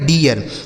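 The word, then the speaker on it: dear: जैसे डी से हो गया ड। इस इ और ए का उच्चारण क्या हो गया? इ आर से हो गया र यह लिखा गया आपका डियर डी ई ए आर डियर यह हो गया दोस्तों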